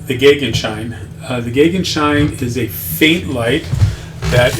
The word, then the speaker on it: Gegenschein: Uh the gagen shine is a faint light that is opposite the sun. Uh it's uh again pronounced gagen shine.